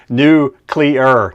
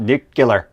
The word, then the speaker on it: nuclear: adjust our our verbage new cleer not nucular there's no u in there n there's no second